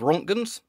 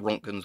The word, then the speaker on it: Roentgen: So that's pronounced Roentgen or Roentgen, I believe is the correct pronunciation.